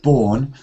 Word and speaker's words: born: there autumn and uh born try to get uh not burn but more born and autumn great reading though